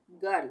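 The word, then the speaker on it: girl: भी व्यंजन है तो यहां पर इसका उच्चारण अ होगा हम इसको पढ़ेंगे गर्ल अ आ रहा है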